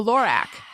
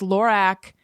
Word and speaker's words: Lorac: then mary katherine recommended this lorac am i saying it right it's carol backwards lorac uh pen liner and